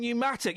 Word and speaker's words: pneumatic: The silent P in pneumonia and pneumatic. You've got to love a silent P.